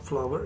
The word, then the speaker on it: flour: अंग्रेज़ी का होता है, जिसको आप फ्लावर या फ्ला बरतानवी अमरीकी में बोलते हैं। अगर यकीन नहीं है तो ये कैम्ब्रिज यूनिवर्सिटी का स्क्रीनशॉट लगा हुआ है, दोनों की प्रोनाउंसिएशन यानी तलफ़ुज़ बराबर है।